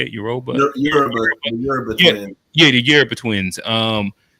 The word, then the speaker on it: Yoruba: Yoruba. Yoruba Yeah, twin. yeah, the Yoruba twins. And yeah, I think Michael B. Jordan was speaking on the carpet about how I don't know, he got a Yoruba name or some shit like that.